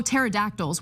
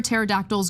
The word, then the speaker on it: pterodactyls: Uh t Oh, pterodactyls. Why can't you hear pterodactyls? Go to the bathroom because the P is silent.